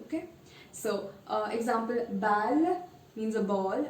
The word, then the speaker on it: balle: Well, there's no change. So you will pronounce it exactly as it is. No Y sound, okay? So, example, balle means a ball, balle.